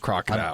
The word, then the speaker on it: krokodil: d i l yeah we think it's pronounced crocodile I'm fairly certain because they they compare